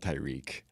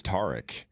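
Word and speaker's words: Tarik: Isn't that how you say it? Not Tyreek. TK. How do you say it? What is it? I think it's Tar. It's definitely not Tyreek. No, it's not Tyreek. Like the guy from HGTV. Tar.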